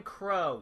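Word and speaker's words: Qrow: Huntsman Crow. Yes, you pronounce a Q with a C.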